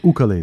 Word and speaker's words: ukulele: But this is my ukulele that I got there. so how do you say really, ukulele or ukulele? It's technically ukulele.